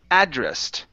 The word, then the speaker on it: addressed: ways to um uhh we have two ways to use this so when you write an address down on an envelope you can address it yeah that that's the noun yeah and so we put the stress at the end but there's two ways